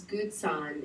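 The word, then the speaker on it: Gutzon: was a danish american and his name is gutson it's spelled g-u-t-z-o-n borglum and his last name is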